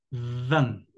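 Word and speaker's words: vingt: No olviden que la V en francés se pronuncia con los dientes superiores y el labio inferior. Van.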